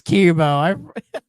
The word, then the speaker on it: Kemo: Yes, it is Chemo. Yep. I never put that together in my because they spell it Kemo. I was thinking like chemo or something.